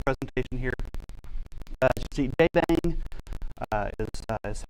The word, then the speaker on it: JBang: As you see, Jbang uh is is how that is pronounced.